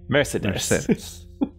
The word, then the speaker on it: Mercedes: with the accent messages take all take all the e sounds and mercedes and instead of pronouncing each one a different way pronounce them all the same way mercedes